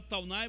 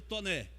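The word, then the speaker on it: Taunay: A gente fala Taunai, mas a pronúncia correta seria Toné.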